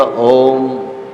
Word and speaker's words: ওম: এই তিনটি উচ্চারণের যে সমষ্টিগত যে ভাব কিংবা উচ্চারণ সেটাই হল ওম।